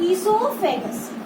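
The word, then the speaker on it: oesophagus: देखो नाम को अच्छे से प्रोनाउंस करना आना चाहिए, ओ इज साइलेंट, ईसोफेगस, ठीक है ना।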